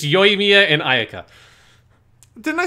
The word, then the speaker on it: Ayaka: got both his names wrong it's yoimia and ayaka didn't i say ayako no you said like hanukkah or some no i think i said akaya but i meant ayaka uh honomia i got totally wrong i'm sorry